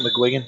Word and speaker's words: McGuigan: Is that how you say it, McGuigan? You going with that? So, yeah. I say it wrong every time. That's how the Irish say it, so I'm going to go with it.